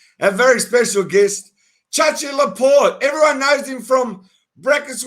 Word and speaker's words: Loprete: And my name is Chachi Loprete. That's how you pronounce my last name.